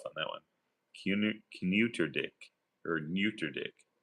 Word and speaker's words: Kneuterdijk: Kneuterdijk or Neuterdijk. Maybe the K is silent. Neuterdijk. Neuterdijk. It'll end in Ike. Ike.